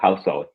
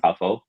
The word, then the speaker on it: Khow Suey: Oh, let me get a proper pronunciation. Took some notes down. Oh no, Khow Suey. Yeah, Khow Suey or Okay. Khow Suey.